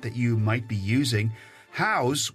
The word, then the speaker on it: Houzz: you might be using house which is spelled Hou Z Z just announced a data